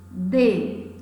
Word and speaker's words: dê: Se eu disser, dê-me um conselho, dê é pronunciado de uma forma mais enfática, monossílabo tônico.